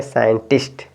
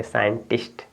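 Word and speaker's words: scientist: सी साइलेंट हो गया साइंटिफिक यहां से सी साइलेंट हो गया तो आप क्या पढ़ेंगे साइंटिस्ट क्या पढ़ेंगे साइंटिस्ट ठीक है आगे देखिए बच्चों आगे यहां पे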